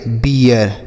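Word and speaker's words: beer: पढ़ेंगे बियर ठीक है तो डबल ई के साथ अगर बड़ी ई की मात्रा सॉरी बड़ी डबल ई के साथ अगर आर लिखा होगा तो उसका उच्चारण बड़ी ई की मात्रा नहीं होगा। इ ए के रूप में हो जाएगा।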